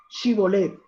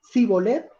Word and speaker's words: Shibolet: Entonces hágame un favor, di Shibolet. Y si él decía Sibolet, porque no podía pronunciarlo correctamente, entonces le echaban mano